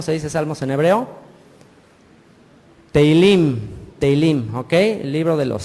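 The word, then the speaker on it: תהלים: Teilim, ¿ok?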